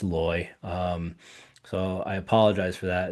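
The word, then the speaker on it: Leu: And I kept pronouncing loy numismatic as low because it looks like low to me, but it's loy.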